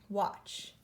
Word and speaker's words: watch: forget him from the team but there T is silent watch ah spelling word alert why just like in